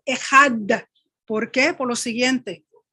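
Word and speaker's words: אחד: Israel, Adonai Eloheinu, Adonai Echad, el judío tiende a pronunciar mucho esa D, esa Dalet del Echad.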